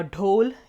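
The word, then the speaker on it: dhole: जो Asiatic wild dog है जिसे हम अ ढोल या फिर कुछ लोग इसे ढोले भी कहते हैं अ जैसे भी आप इसे प्रोनाउंस करना चाहें इस ढोल और टाइगर के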